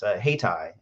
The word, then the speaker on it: Hayti: Hightower mentioned, is Haytai. It's spelled Hayti.